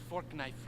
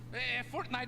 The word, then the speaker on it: Fortnite: That's a fork knife reference. Did you say fork knife? It's actually pronounced Fortnite.